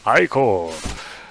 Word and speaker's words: ichor: That's pronounced ichor.